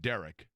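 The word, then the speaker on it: Deiric: well, his agent, and I believe it's pronounced Derek, D-E-I-R-I-C, Derek Jackson, who deals with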